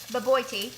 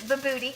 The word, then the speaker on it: Bobotie: It's actually called Bobotie, but we pronounce it Bobotie because we think it sounds cuter that way.